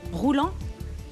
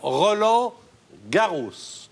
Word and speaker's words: Roland Garros: Alors, Roland Garros. Mais il faut Ouais. bien prononcer là encore, parce qu'elle avait J'ai compris compris roulant.